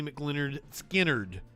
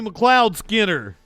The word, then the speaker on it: McLeod Skinner: former house candidate Jamie mclennard Skynyrd I always say that name wrong don't I it's not McLeod Cloud McLeod was that it did you guys told me Jamie McLeod Skinner McLeod seems right hey we gotta we